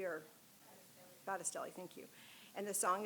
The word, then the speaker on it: Battistelli: I can't pronounce her last name. Is it Bastelli or? Battistelli, thank you.